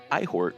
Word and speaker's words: Eihort: let's uh we're talking about elder things in ihort or ehort this week whoa that's how that's how you say it in the ancient language of the roosters yeah thanks ralph okay so ehort it is uh let's see um let's let's